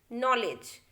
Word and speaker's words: knowledge: Silent K देखिए कहाँ K silent होता है, the letter K is always silent when it प्रेसीड्स the letter N इन a word. देखिए जब भी K जो है N के पहले आता है उस जगह पे हमें K को बोलना ही नहीं है। एग्जाम्पल देखिए no, knock, knife, night, नॉलेज, हमने सिर्फ N को प्रोनाउंस किया है, K को कहीं भी नहीं किया है।